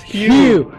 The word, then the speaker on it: hue: It's Hugh. Hugh. Hugh, like Hugh Jackman.